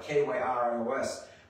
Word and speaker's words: Kyrios: Kyrios. In English, you kind of spell it K-Y-R-I-O-S, but it's not the Greek letters, but it's pronounced Kyrios, which means what?